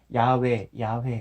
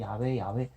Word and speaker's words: 야훼: 수도 있다고 하는데 근데 전통적으로 그 이스라엘 민족들 가운데서 쓰여졌던 표현 발음이 야훼 뭐 그랬다고 해요. 1800 몇 년도인가? 하여튼 누구 신학자가 그래도 나름대로 발음 가장 근접한 발음을 찾아보니까 야훼 뭐 그렇게 됐다고 하더라 해가지고 예, 그렇다고 합니다.